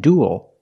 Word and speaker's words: duel: We see with the first three, they're pronounced pretty much the same. Cruel, gruel, and duel. They all have the oo sound plus a dark L. Ool. Like pool and cool.